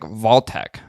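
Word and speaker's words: Wojtek: It's actually pronounced like Voltec. Okay. So do you know what who Votek was or what Votek was?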